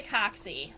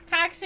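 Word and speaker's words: coxae: inside from the top we can't see the coccy um coccy is spelled like this in case you are curious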